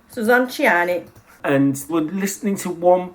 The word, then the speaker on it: Suzanne Ciani: I want you to pronounce her name. Suzanne Ciani. Suzanne Ciani.